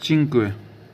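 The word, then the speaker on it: cinque: उसके बाद पांच पांच को बोला जाता था चिंक चिंक सी आई एन क्यू यू ई चिंक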